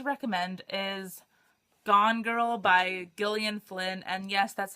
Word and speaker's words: Gillian: i'm going to recommend is gone girl by gillian flynn and yes that's how you pronounce it because i googled it oh my